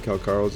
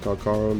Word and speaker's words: Calcharo: enjoyed the intro showcasing karo's insane power yep you heard that right it's pronounced kakaro not Karo now let's go to